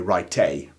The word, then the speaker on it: write: Well, here we don't actually pronounce this letter E. We don't say write in the same way that we would pronounce the E at the end of a word like cafe.